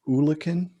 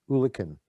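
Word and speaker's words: eulachon: population yeah so is it is it pronounced oolakin yes hooligan hooligan is a fascinating story uh because one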